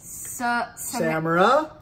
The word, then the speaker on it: Samara: Samara.